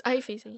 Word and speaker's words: Avicii: To be fair, how do you pronounce this? Avicii. Avicii. Oh, it's Avicii.